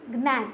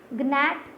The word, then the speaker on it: gnat: In first one G is silent, gnat, gnat, no, and then you will see tongue, UE is silent, chalk, L is silent, whistle, T is silent.